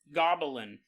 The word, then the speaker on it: goblin: I've also been told recently that I don't say the word goblin right. Goblin. You guys know what I'm talking about. Apparently it's just Goblin, but that doesn't sound right.